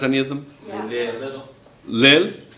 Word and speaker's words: Lille: We had a young man in here who told us he's French, and he told us how to pronounce them.